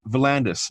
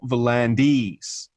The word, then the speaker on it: V'landys: They pointed out, you look at his surname and the way it's pronounced, it's V'landys, not V'landys. Right. So that Y, he's accustomed to Y's being, so rugby league, because you don't call him Peter V'landys with that Y.